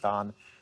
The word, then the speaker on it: Dan: I was in D.C., and I'm originally from Tel Aviv, Israel, which is why my name is spelled Dan, pronounced Don.